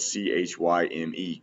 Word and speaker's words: chyme: I believe it'll come up here on the right side here in a minute, but it's spelled C-H-Y-M-E, chyme.